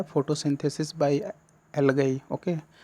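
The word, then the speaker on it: algae: आप प्रोनाउंस्ड करोगे तो इसको एल्गाई न पढ़ के आप क्या पढ़ोगे, एल्गी।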